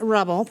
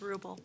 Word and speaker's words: Ruble: next up is rubble please come forward i hope i pronounced that correctly state your name your area of residence and you have three minutes it's ruble ruble pardon me 4840 dogwood